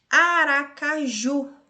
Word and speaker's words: Aracaju: Aracaju. Ju, a última sílaba é a mais forte, oxítona.